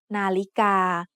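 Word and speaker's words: นาฬิกา: The tones in the word Nalika are mid-tone, high tone, and mid-tone. Nalika.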